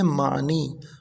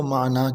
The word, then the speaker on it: معنی: لکھا ہے الفاظ معنی، لوگ پڑھتے ہیں معنی، تو معنی جو ہے عربی زبان کا لفظ ہے، لیکن اس کا جو درست تلفظ ہے وہ معنی کے ساتھ ہے۔ معنی کی جمع آتی